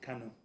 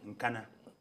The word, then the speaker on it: Kano: Zambian to learn how to pronounce it's in Kano. Kano East, not in Nkana. It's in Kano East.